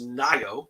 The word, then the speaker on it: Ngaio: it turns out that the spelling of my name is pronounced Nago so ng-a-i-o if you speak Maori if you're from New